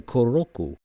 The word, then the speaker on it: クロック: The Japanese do not have an L sound in their language. So it sounds like they just can't pronounce clock, but this is how they say kuroku.